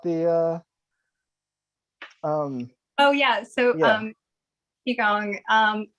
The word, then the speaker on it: Qigong: Heather Anacker is a zinester, artist, seamstress, and aspiring Qigong instructor. What? I'm sorry, I am totally mispronouncing that. What's You're all good. It's Qigong. It's Qigong? pronounced very differently than how it's spelled.